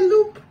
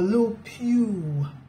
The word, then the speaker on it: LUPU: Did I say loop? No, LUPU. L-U-P-U.